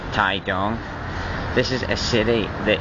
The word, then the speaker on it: Taitung: it says welcome to TA Tong but actually it's pronounced ta dong this is a city that is scorching the